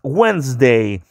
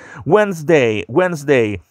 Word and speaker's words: Wednesday: Miércoles nosotros pronunciamos Wednesday. Esto es uno de los días más difíciles de pronunciar porque está como que la escritura distinta como lo pronunciamos, ¿no es así? Wednesday.